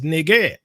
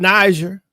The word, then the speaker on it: Niger: I showed you Strong's pronounce it as nigger, not Niger.